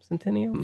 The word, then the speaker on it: Centineo: I think that's how you say his name, Centineo.